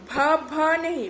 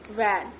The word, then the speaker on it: वैन: वी फॉर वैन, व भ नहीं, भा भी नहीं, भैन भी नहीं बोलना, व और भ का मिश्रण है, व वैन, ठीक है।